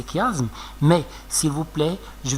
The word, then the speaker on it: chiasme: suivent en arabe le chiasme celiiasme pasiasme certaines personnes le prononcent chiasme encore c'est pas juste c'est faux d'accord il faut prononcer kasme mais s'il vous plaît